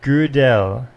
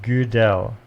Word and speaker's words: Gödel: Okay, it's Gödel. So I went on Wikipedia and I clicked listen, and it said Gödel. Kurt Gödel. Gödel.